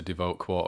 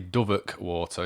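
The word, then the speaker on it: Devoke Water: that kind of stuff before we got to Devote Water, or should I say Doveck Water is how it's pronounced.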